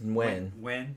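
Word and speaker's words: Nguyen: James Nugan or No, it's Wen. Wen, I think is how you pronounce it.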